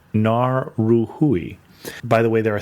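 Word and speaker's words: Ngauruhoe: a r u h o e which is pronounced more like Nar ruhui by the way there are three not two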